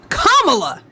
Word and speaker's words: Kamala: Now that you know her name, you know how to say the word comma. You're not stupid. You're not dumb. Like, why are we acting like this? You're not stupid. Just say comma. Kamala.